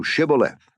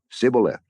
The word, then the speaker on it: Shibboleth: If he said, Nay, then said they unto him, Say now, Shibboleth. And he said, Sibboleth, for he could not frame to pronounce it right.